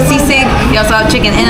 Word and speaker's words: sisig: Yeah, so we're saying it wrong. So sisig.